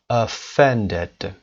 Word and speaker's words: offended: صدای شو offended صدای شو هست، صدای شو استرس نداره. صدای فن دد اینجا استرس میبینید که روی ف هست و زیرش هم اندرلاین کرده.